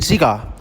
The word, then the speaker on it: cigar: In cigar, the straight is on the second syllable, cigar. But when we add the